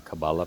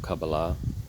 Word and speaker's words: Kabbalah: Learning Sanskrit led me into learning Hebrew because I had read a lot of things in the Kabbalah path, and I had found a rabbi who taught people Kabbalah.